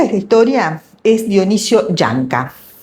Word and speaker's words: Llanca: Bueno, el protagonista de esta historia es Dionisio Yanca. Yanca dicho en argentino porque se escribe con doble l sería Dionisio Lianca.